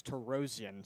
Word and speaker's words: Tarosian: My apologies, I've been pronouncing that wrong. I have a friend whose last name rather is pronounced Tarosian, spelled exactly the same, but I got to get used to that. It's Tarosian, so my apologies for that.